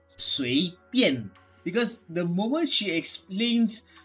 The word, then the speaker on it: 随便: They call it Swabian, or what, they pronounce it as Swabian, just like that, because they can't really pronounce proper Chinese. But the proper Chinese, to me at the very least, is 随便.